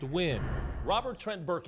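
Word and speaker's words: Nguyen: a common Vietnamese name spelled ng u y en but pronounced Wynn Robert Trent Burke E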